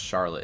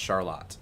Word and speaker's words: Charlotte: It's actually not pronounced Charlotte. It's pronounced Charlotte. That is the actual correct pronunciation.